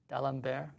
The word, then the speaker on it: D'Alembert: D'Alembert?